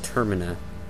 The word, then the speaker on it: Termina: first syllable and so it should be termina be you know as in terminate and same thing on